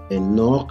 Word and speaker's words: Enoch: En este caso, Caleb, la sílaba tónica es la última, fíjense. Enoch, la sílaba tónica es la última.